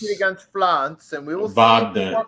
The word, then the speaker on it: Wagner: Against France, and we will Wagner. It's Wagner. The Everybody Wagner. says, they always say it wrong.